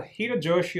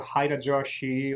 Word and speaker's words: Hirajoshi: why but such heaviness well hiro joshi or haida joshi or however you want to pronounce it it's it's a